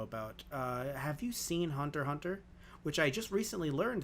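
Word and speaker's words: Hunter × Hunter: uh have you seen hunter hunter which i just recently learned that you don't pronounce the x yeah um i haven't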